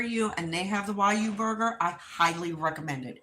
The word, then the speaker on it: Wagyu: So everybody pronounces it differently because of the way it's spelled. It's spelled W-A-G-Y-U, I believe. So it's kind of like spelled Wagyu, but it's not. It's Wyu.